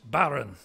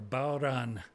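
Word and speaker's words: bodhrán: So the Irish drum is correct pronunciation is barren, where you roll the R and the but you H spell is silent. It nothing like so that. B-O-D-H-R-A-N. You wouldn't think that. The H bad. Makes the D silent and you roll the R, barren.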